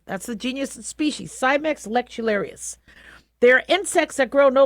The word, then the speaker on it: Cimex lectularius: So, a bed bug is the Cimex lectularius. Yeah, I pronounced that correctly. That's the genus and species, Cimex lectularius.